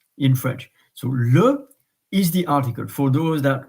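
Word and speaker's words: lys: the previous sessions that normally when you have an S you don't pronounce it but here it is an an exception Lis and um I never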